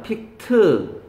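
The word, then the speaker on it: picked: 픽드가 아니야. 픽트, 립트.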